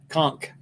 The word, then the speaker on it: conch: good fish fingers yeah do not pronounce to pronounce this ch sound conch conch all right yeah well